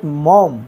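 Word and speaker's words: Maugham: বা Belal William Somerset মম দেখো এটার উচ্চারণ মৌঘাম না এটার উচ্চারণ হচ্ছে মম মম মম উইলিয়াম সামারসেট মম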